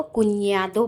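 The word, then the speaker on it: cuñado: इसको वैसे हम बेसिकली इसको हम प्रोनाउंस करते हैं निया, निया, इसलिए मैं इसको कुन्यादो पढ़ रही हूँ, कुन्यादो।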